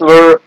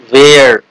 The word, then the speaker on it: were: some of the states were as small as a town or city were many people pronounce this word where but it's not where it's were south africa africa africa